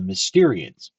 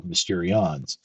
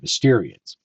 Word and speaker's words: Mysterians: inspired robots called the Mysterians. That's with an A. I sometimes mispronounce it as an O, Mysterions. It's with an A, Mysterians.